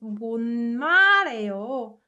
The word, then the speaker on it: 못 말해요: We learned that when 을 is combined with 흐, naturally 흐 sound gets muted. So this whole sentence is pronounced 못 말해요, 못 말해요, 못 말해요.